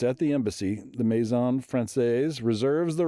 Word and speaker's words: Française: The contract to rent the French embassy in Washington, D.C., which is referred to as La Maison Françoise or Française. How do you say? Française. Française. There we go.